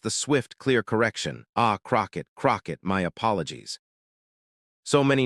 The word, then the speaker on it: Crockett: It's Crockett, your honor. Two syllables. She corrected him simply, firmly, immediately. No apology requested or offered for his error. No awkwardness conveyed. Just the swift, clear correction. Ah, Crockett.